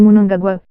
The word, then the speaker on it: Mnangagwa: Tudo indica que a demissão fez Mnangagwa, pronuncia-se Mnangagwa, perder a paciência.